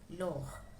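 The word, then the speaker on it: leurs: If what are owned are in plural, you add an S when you're writing it. But the same pronunciation, lor.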